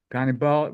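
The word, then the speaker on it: Gannibal: Major General Abram perovich ghal ghal rhymes with cannibal so he was a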